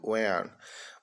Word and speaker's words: when: Quando, when. O W com o som de U. H é mudo.